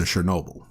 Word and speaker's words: Chernobyl: And it opens with them finally getting what they needed from him and banishing him to Chernobyl, if I'm pronouncing that. Yeah, Chernobyl.